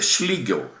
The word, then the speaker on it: Schlegel: Agora a gente vai falar, vocês podem conferir de conferir depois na página 61 sobre eh Schligel, tá? Se escreve esclel, mas em alemão é schlig, gente.